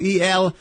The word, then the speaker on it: Eltenda: E-L-T-E-N-D-A. Correct? Eltenda. Correct. Yeah, with the S and the S at the end, like S. Tendas. Okay. And channel, like channel. Eltenda, like you spell it.